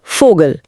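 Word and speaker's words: Vogel: German में वी का उच्चारण व नहीं बल्कि फ यानी अंग्रेजी के एफ जैसा होता है।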